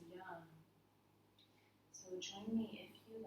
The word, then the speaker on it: Yam: And we'll close our class today by chanting the mantra associated with this chakra, which is pronounced in Sanskrit as Yam. So join me if you like. Deep, full breath in. Yam.